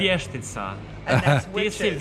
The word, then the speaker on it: vještica: grandmother used to say Vichitsa, but I'm not saying it right. Here's how we The said it. vještica.